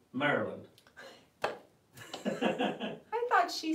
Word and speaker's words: Maryland: Maryland hello for Maryland it's actually Maryland yeah but did you say that or did she say it she said I said I said marry land we pronounce it Maryland I thought she said